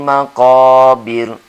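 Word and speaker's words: مقابر: kita membaca juga panjang, seperti maqabir. Nah, sini tidak boleh. Bacanya pendek. Ya. Hatta zurtumul maqabir.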